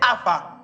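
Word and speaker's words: Havah: On a été Ava. Ça s'écrit H-A-V-A-H.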